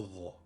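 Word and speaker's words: ظ: La lettre Dha est un Dhal emphatique. Elle correspond à la lettre du milieu du mot arabe nadhifun, qui signifie propre. Dha et non Dha, Dha, Dhi, Dhu, Dhin.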